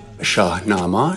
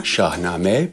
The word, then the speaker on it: Shahnameh: Odyssey, known as the Shahnameh. Shahnameh, Shahnameh, pronounced varyingly throughout the Persianate world.